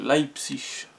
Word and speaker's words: Leipzig: psych l'aï psych attention salma faut bien le prononcer leipzig sébastien haller moi je veux mettre sur les